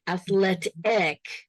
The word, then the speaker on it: athletic: So it's an accent and it's also athlete. I hear a long E, athletic. Yeah, short E.